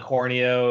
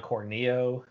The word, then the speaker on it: Corneo: Because we kind of all grew up thinking it was, Mako, and it's actually Mako, and, Don Corneo is actually Don Corneo, That's me a while to adjust to, because I was always calling him Don Corneo.